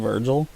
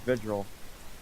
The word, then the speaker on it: Vigil: new operators are Virgil I believe Sophia soon Virgil isn't it what is it how you pronounce it so no visual visual visual there you go vigil there you go I'm still hearing myself echoing